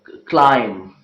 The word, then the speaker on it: climb: letter B okay well there are many words in which be is not pronounced letter B means the sound bird is not pronounced for example if you talk about the sounds lamb comm numb okay link and climb okay bomb and there are so